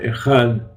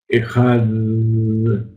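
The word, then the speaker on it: אחד: Entonces, aquel que se extiende en la Dalet Ejad, entonces prolonga sus días y sus años. Mas solo se acentúa la pronunciación de la Dalet, final de la palabra.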